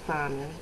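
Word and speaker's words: Sohnin: hi class my name is simon spelled s-o-h n-i-n yes a little weird everybody can't pronounce it and everybody wants to know what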